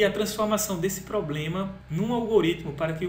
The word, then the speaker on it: algoritmo: Atenção a isso, então é algoritmo. Porque naturalmente a gente faz assim, algoritmo, né? A gente pensa que essa sílaba aqui tem uma força maior do que ela realmente tem e queremos colocar o acento.